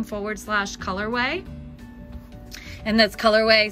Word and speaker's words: Colorwae: slash colorway and that's colorway spelled like waze name w-a-e oh and look at